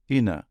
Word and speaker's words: into: Enfin, nous observons également l'élision de la dentale T dans into, prononcé inner, ce qui est manifeste d'un accent américain que l'on pourra faire remarquer à notre jeune public.